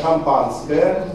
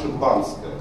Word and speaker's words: шампанское: А вы поотслеживаете, и вы увидите, что многие из них говорят «шампанское», то есть с подчеркнутым произношением «а», а многие не подчеркивают это «а» и произносят старомосковский вариант «шимпанское».